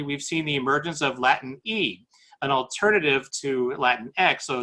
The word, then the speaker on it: Latine: Outside of the United States, in Latin America particularly, we've seen the emergence of Latin E, an alternative to Latinx, so Latine, so that when you pronounce the word, you can actually pronounce it.